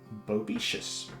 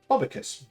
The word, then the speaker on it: Bobicus: Hello, Bobicus, or Bobicious, however you want to pronounce it. How are you doing on this relatively sunny Monday afternoon? Bobicus, there we go.